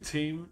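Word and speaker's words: Thiem: It is Novakjovich number one, Rafa Nadal number two, and Dominic team number three. I think that's how you say it. T H I M.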